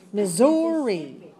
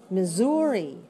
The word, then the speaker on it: Missouri: Missouri. Notice that these S's are pronounced like a Z. Missouri. But the ones in Mississippi are pronounced like voiceless. Okay, so Z in Missouri.